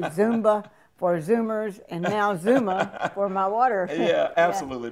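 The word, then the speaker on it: Xooma: looks strange on there x 0 0 m a x o o m a so how you pronounce that zuma zuma yeah zuma worldwide worldwide okay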